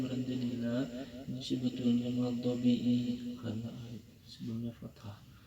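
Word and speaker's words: الْمَغْضُوبِ: Maghdubi ini karena sukun sebelumnya domah, maka dibacanya panjang berharakat.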